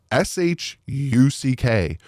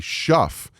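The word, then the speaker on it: Shough: but it's pronounced Shu sh u c k but it's spelled sh o u g h like tough but with a sh in it so you think it'd be Shuff but it's pronounced shuck and I literally went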